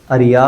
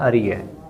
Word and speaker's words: اریہ: ہے اسی زبور میں، اریہ، اریا بھی کہا جاتا ہے لیکن اریہ یہ اس کا تلفظ ہے، اس طرح بولا جاتا ہے اریہ۔ اس کا معنی کیا ہے؟